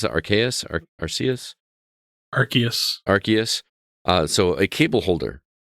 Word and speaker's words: Arceus: like based on pokemon uh how do you pronounce it archaic garcias arceus arceus so a cable holder for 400 points